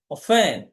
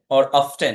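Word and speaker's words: often: লিখে দিলাম ফার্মার বলতে অফেন অফটেন দুটা উচ্চারণ হয় অফেন ক্ষতির সম্মুখীন হয় সে অর্থে আমরা এখানে এখন এখানে লিখে দিতে পারি যে কাউন্ট লসে ক্ষতির সম্মুখীন হয়।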